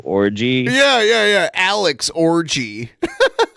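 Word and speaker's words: Orji: run good run it's it is spelled o rji his name is orgy what a name what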